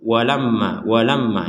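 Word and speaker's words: وَلَمَّا: Walamma ja'ahum, berhenti sebentar karena ini pembelajaran, jadi kita berhenti di tempat-tempat ataupun akhir dari kata. Walamma di sini ada mim bertasydid, maka kita bacanya dengan dengung.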